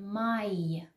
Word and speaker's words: Mai: /maie/ is pronounced by many people ,it's wrong. 'a' and 'i' are pronounced /aɪ/. So,it's together /maɪ/.